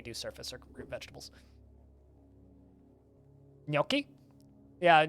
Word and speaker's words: gnocchi: surface or group vegetables gnocchi yeah gnocchi is one of those weird words that people mispronounce i want to say